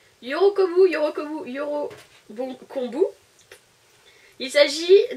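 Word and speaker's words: 喜ぶ: En japonais, la joie se prononce Yorokobou. Yorokobou.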